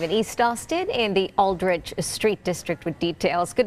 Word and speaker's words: Aldrich: Tierra Neubaum is live in East Austin in the Aldrich Street District with details. Good morning, Tierra. I think I said that right, Aldrich.